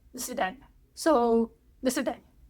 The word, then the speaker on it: до свидания: So for now, goodbye, or shall I say, do svidaniya. That's not actually how you say it. I got infected. No, you say it more like до свидания.